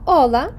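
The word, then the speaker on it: hola: складна а тому що вона або взагалі не читається або читається так як у мові походження наприклад іспанські слово ола Вітаю Здрастуй здрастуйте до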